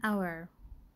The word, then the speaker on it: hour: فهنا عندنا تبدي بحرف صحيح consonant sound consonant letter ال H لكن it is silent. So an hour, right?